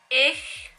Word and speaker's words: ich: Ich... Is it ich or ish? Because my mom thinks it's ish, but I think it's ich. Because this one is pronounced individually, it sounds like ich.